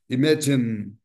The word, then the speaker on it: imagine: Aqui eu tenho imagine, tá? Imagine, duas sílabas. Vamos lá. Imagine. Tá? Então, a tendência nossa é falar imagine. Imagine. Nós, conforme eu tenho falado, nós brasileiros somos mais vocálicos. Tendemos a colocar vogal em todos, em todas as